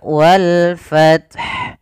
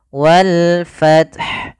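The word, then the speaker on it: وَالْفَتْح: yaitu Bagaimana cara membacanya alif lam qamariyah yaitu Alif dan lam yang kita tulis dan kita baca dengan jelas Suara lamnya maka walfth walfth karena datang setelah huruf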